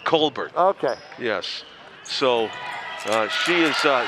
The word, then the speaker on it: Colbert: I got my pronouncer before the game, and you know how there's Stephen Colbert, the talk show host. Cheyenne apparently goes with Colbert? Colbert.